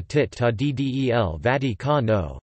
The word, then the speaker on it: Città del Vaticano: Official endonyms, Stato della Città del Vaticano, pronounced STA to della Città del Vaticano.